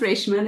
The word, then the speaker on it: Rashama: Rashama. Yes. My name is pronounced Rashman.